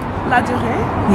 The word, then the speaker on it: Louvre: Can you please pronounce this place? Louvre?